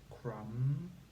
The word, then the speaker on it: crumb: that's our next section we have the MM sound spelt with M and B and we can say